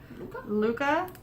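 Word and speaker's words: Lykke: it like Luca I'm told that technically it's pronounced the way hygge is pronounced so I'd be like Luca but everybody says like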